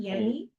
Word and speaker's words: Yenny: Which is that Yenny, and I was pronouncing her name incorrectly, originally it is pronounced with a Y sound, Yenny.